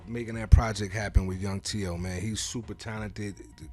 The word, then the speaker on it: Yhung T.O.: you know what you say his name is Young Teo young Teo we gotta check him out man